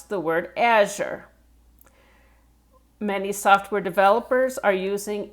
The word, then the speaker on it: Azure: Okay, so Azure. To go slower, Azure.